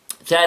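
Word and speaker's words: ث: Tha letter. Tha with fatha. Tha. Tha. See? Little bit from my tongue is out, right?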